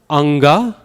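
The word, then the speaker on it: aṅga: When you say that N, where is your tongue? It's in the back of your throat, preparing for the G sound, right? That's where this sound is pronounced. This is that na, song. So when you read it in Sanskrit, like the word anga, right? Anga, it's going to be this N.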